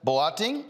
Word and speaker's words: Boateng: Joining me now from Canada is Leah Boateng, owner of Mercy Cookware and Company. Did I pronounce the last name right?